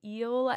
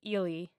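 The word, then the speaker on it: Ehle: we're going to say eel every time apologies in advance it's eely not eel no disrespect to our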